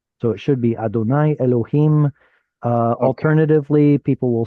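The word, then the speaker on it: אֱלֹהִים: So the chirik underneath the vav is the sole indicator to us that this should be pronounced as Elohim, and traditionally an Ah,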